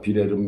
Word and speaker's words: 빌헬름: 오스트리아는 제국에서 공화국으로 개편이 되고, 독일도 프러시아의 빌헬름 2세, 윌리엄을 이제 독일어로는 빌헬름이라고 발음을 하죠. 독일도 프러시아의 제국 무너지면서 빌헬름 2세가 물러나고 공화국이 됩니다.